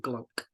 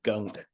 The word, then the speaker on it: Glunk: It's pronounced glunk, not gunk. The L is pronounced. Excuse me. It's not a silent L.